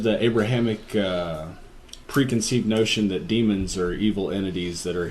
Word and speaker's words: daemon: But yeah, so I see it and I say Daemon, but it's still pronounced demon, right? And largely speaking, yeah, I'm not actually an expert on ancient Greek or Latin pronunciation. Well, God damn it, Beach, you could have told me this. Demon is how it rolls off the tongue, and I don't think the